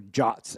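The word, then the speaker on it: JWT: new for me anyway Json web tokens or jots as they're supposedly pronounced um and the reason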